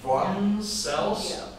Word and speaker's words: Schwann: Now, apparently in German, W is pronounced V, so it's Schwann cells.